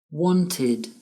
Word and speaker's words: wanted: Wanted, needed, infected. The ed sounds like id.